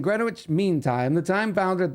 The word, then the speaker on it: Greenwich: It's pronounced Greenwich as in Grenwich.